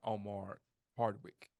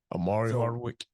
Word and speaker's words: Omari Hardwick: a Denzel Washington and Omar Hardwick that's how you say his name Omari Hardwick yeah that's what I said I say Omar oh yeah Omari Hardwick